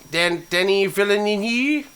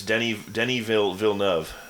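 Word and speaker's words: Denis Villeneuve: Denny Villeneuve?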